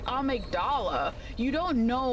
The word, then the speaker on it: amygdala: So I always called it amydala but until patches said amigdala you don't know like the pronunciation that they're going for right does that make sense?